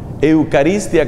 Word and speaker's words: Eucharistia: Eucaristia, que se escribe con CH, como si fuera Eucharistia.